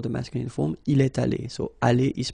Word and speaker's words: allés: Nous sommes allés. You don't pronounce it.